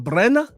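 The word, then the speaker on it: Brener: I have to say it like a Brazil. Brena, fire, because I got the KO that I needed.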